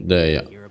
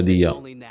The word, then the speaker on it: Dehya: Tu, Dehya. Dehya lo chiama, la chiama però, eh. Quindi è Dehya si chiama. Vabbè, si pronuncia.